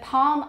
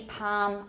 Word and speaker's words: palm: that's sorry that's pronounced but palm almond can either be palm almond or palm almond i tend to have